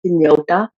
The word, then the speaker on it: Hynniewta: it's like a thing my surname which is inyota so a lot of